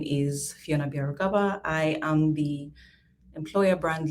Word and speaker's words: Byarugaba: doing that hello everyone my name is fiona bieragava i am the employer brand lead and diversity